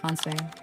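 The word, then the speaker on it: 反省: Here is where Japan introduces the concept that may be the most quietly radical of all, hansei, pronounced hansei, hansei, fanshing, means self-reflection, but not the vague, passive kind.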